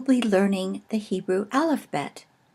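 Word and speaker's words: בית: The second letter is the Hebrew letter Bet. This is pronounced either B as in boy or V as in vector.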